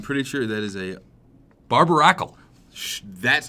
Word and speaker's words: Barbaracle: lied to I'm pretty sure that is a barbaracle that's how you pronounced it there is a barber Akal so